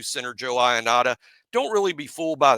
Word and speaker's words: Ionata: But Joe Ionata, we have been pronouncing that correctly the whole time.